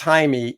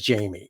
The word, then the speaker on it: Jaime: stupid no name tag he literally says Jaime and she says Jamie and then he says